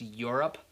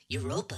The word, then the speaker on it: Europa: I'm pretty sure it's pronounced Europe. Tell him, Roberta. Sorry, Hans, wrong guess. No, Jupiter is right. Europa is one of Jupiter's many moons.